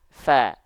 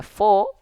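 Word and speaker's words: ف: huruf yang tebal Oke tapi untuk huruf ini kita enggak baca fo tapi kita baca FA Kenapa karena huruf Fa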